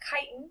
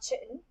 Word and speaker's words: chitin: And chitin, yes, that's pronounced chitin, not chitin, is what's found in insect exoskeletons.